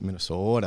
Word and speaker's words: Minnesota: Well, if you want to say it like from people from Minnesota, it's Minnesota.